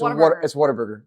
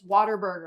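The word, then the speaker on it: Whataburger: Oh, and they were trying to tell us how you say it. Waterburg. It's Waterburg. They were like, "It's Waterburger." I'm like, "No, it's Waterburg." Like, you were supposed to just like say water.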